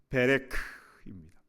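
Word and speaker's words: בֶּרֶךְ: 사랑하는 여러분, 히브리어로 복이라는 말은 바라크라고 합니다. 그런데 무릎을 히브리어로 어떻게 발음하냐면요. 베레크입니다. 어원이 같습니다.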